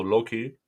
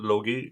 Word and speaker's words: Loki: It's pronounced with either a soft G or a soft K. So Loki in Sweden, Logi in Denmark.